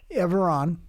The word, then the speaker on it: Everon: was they Chang commercial it's called everon everon right rhymes with Chevron got it yeah so